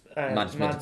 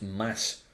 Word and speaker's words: Mads: Yeah, and they got Max Mads Mikkelsen. In fact, it's Mad. No, sorry, it's Mass. Mads Mikkelsen. Apparently the D is silent.